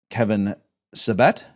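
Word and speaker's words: Kevin Sabet: talking about this topic and your opponent was Kevin Sevette.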